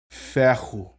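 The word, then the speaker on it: Fehu: rune the first one is going to be Fair who so if I say that quickly it's just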